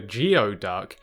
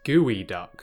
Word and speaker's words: geoduck: Despite the fact that it looks like it's called a Geoduck, it's actually pronounced Geoduck, which just makes the animal somehow even better than it already is.